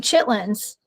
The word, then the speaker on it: chitterlings: south he wrote it he actually spelled it out right it's chitterlings yes so funny it's not that is not like how you say it you say chitlins okay so it is kind